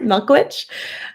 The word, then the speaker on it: Michalowicz: so profit first by Mike Milkovich sorry pronounce it milkwitch um profit first is